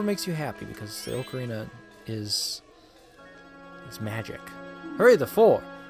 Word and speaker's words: ocarina: Or ocarina. And yes, I pronounce it ocarina. That's just my style. I think it's correct in my personal opinion. But if you say ocarina, that is also your prerogative.